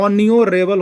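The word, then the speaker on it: honourable: लेकिन जब इसका उच्चारण कीजिएगा तो ये कॉन्सोनेंट, ये एच का उच्चारण नहीं होता है, ऑन्यूरेबल होता है, ऑन्यूरेबल। तो ओ का उच्चारण हो रहा है ना,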